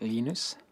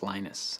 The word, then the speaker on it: Linus: Um, when I speak Swedish, it's Linus. When I speak Finnish, it's Linus. When I speak English, it's Lionus. And I really don't care how people pronounce my name, but Linux is always Linux.